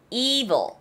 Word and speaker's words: evil: 에 발음이 나지 않고 이 발음이 나요. evil.